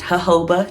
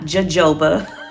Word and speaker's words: jojoba: the jojoba oil so that's the way it's pronounced jojoba not jojoba i made that mistake when i first started